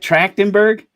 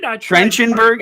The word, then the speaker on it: Trachtenberg: right try is that trachtenberg definitely trenchenburg it looks it has a ch how would you pronounce it track yeah it's t-r-a-c-h-t-e-n-b-u-r-g